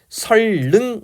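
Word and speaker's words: 선릉: 이것 을 * 선능 * 이라 고 발음 하면 안 됩니다 . 어떻게 발음 해야 할까 요 ? ' 설릉 ' 이라 고 발음 합니다 .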